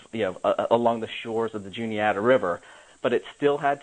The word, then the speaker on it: Juniata: Was it the Juanita? Yep, the Juniata. Juniata. I've always pronounced it Juanita. Yep, it is a pronounced J. You do enunciate the J, and so it's the